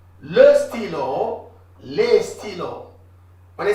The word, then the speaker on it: stylos: But we write a S. But we don't pronounce a S.